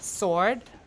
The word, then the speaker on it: sword: word this word okay in Old English you pronounce it sward S and W always pronounce sward and S like that and and sword like that but up to the Middle English period which is around we'll talk about the period later up to the Middle English period only the S is pronounced the W is not pronounced so we have sword